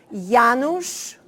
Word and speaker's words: Janusz: Association, that is to practice pronouncing the word Janusz and then Korczak. Because whatever it is pronounced in this hemisphere, it's always wrong. So, so let's try it together. Janusz Korczak.